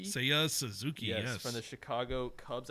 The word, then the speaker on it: Seiya Suzuki: Uh I went, you know, to the Japanese side of things and I went with uh am I pronouncing this right? Seiya Suzuki. Seiya Suzuki.